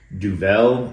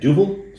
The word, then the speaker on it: Duvel: and I did look up the pronunciation it's pronounced both duel and duil but the Belgian lady that I saw on TV said duble so we're going to go with that it's